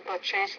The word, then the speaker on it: purchase: Purchase, so that's a word stress problem. The stress on the word purchase is on the first syllable, not the second.